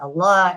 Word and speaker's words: Allah: to me you know the rules of lamb you know how it's pronounced heavy in the word Allah and in like other words that I preceded by Kasra it's pronounced light like this and you know allahar